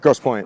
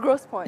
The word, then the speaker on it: Grosse Pointe: Grosse Pointe. Grosse Pointe.